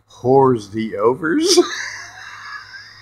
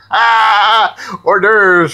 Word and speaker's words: hors d'oeuvres: Some of them I couldn't even pronounce right, like whores the overs. Hors d'oeuvres for many years when they were whores the overs.